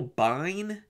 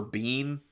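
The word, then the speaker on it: Biehn: was jeanette goldstein uh michael byne or bean i i think is how people say it's spelled b-i-e-h-n he was actually offered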